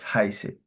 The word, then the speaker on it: heiße: Okay, the pronunciation is ich heiße.